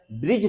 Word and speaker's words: ब्रज: और ब्रज भाषा, आपको पता है ब्रिज भाषा नहीं होता है ब्रज, क्योंकि री का उच्चारण नहीं है, रॉ का उच्चारण है।